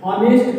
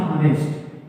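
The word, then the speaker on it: honest: इसी तरीके से ऑनेस्ट पढ़ेंगे इसको, ना कि हॉनेस्ट, इसको पढ़ेंगे हम ऑनेस्ट, यहाँ पर भी होगा एन।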